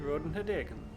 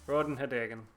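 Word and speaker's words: Ratonhnhaké:ton: column but it's pronounced rod and her Dagon yeah there's like invisible D's in there somewhere everything gonna one day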